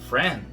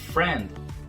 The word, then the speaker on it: friend: E essa regrinha do hand também vai valer aqui pro friend, né? Esse D no final não é pronunciado.